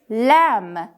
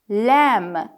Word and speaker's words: lamb: Lamb. B is silent. Lamb.